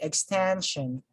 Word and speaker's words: extension: the syllable sorry since the syllable preceded by the suffix shown is 10 so the stress falls on this syllable okay we say extension extension extension then we